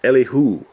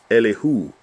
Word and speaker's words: Elihu: So actually so Elihu. Elihu. Elihu. But put the emphasis on the last syllable.